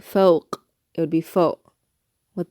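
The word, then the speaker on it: فوق: So the letter qaf, let's do our first word, fawq, fawq. Notice the sound at the end. I know it's probably sounding strange that you're hearing me make that noise, but you're listening for that choking sound.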